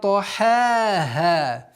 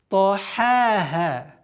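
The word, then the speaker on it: طحاها: Тахаха. Тахаха. Нет. Та. Твердый звук. Ха. Мягкий звук.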